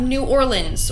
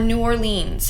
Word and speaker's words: New Orleans: Moving on to number 3, we have New Orleans, or New Orleans, however y'all want to pronounce it, okay? People pronounce it 2 different ways, don't come for me.